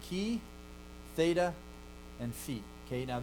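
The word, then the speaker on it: θ: This is letter chi, theta, and phi. Okay, now this is how you learn to pronounce them traditionally. Chi, theta, phi. Okay? But that's not how they were pronounced then.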